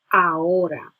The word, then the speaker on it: ahora: That is translated into ahora. The H is silent, so if you want, pretend that that is not even there and just go straight through the O. Ahora.